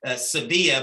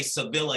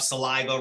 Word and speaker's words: Sevilla: Mine is Sevilla, but I have to say Sevilla here in the South because they can't pronounce. I get called Saliva, Sylvia. I've been called everything.